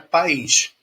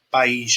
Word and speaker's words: país: eu tenho a palavra Pais meus pais nossos pais e aí eu tenho a palavra país país país onde eu moro